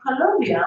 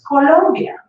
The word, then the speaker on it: Colombia: But then I said, well, then why are you pronouncing it Colombia when it's Colombia?